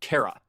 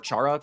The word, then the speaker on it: Chara: But by far the most important of these is the name Kara. Or some people pronounce it Cara or Charara, but it seems to just be short for character.